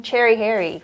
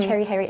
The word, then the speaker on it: Cheri Hyeri: I just like the pronunciation cherry, and I just love cherry. And my real name is Harry, and Cheri Hyeri, it rhymes.